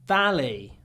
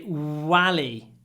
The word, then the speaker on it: valley: They sometimes say wally with a w. Don't say that. Valley, you need to smile and really bite your bottom lip. Valley. Valley. And hold it. Hold the v.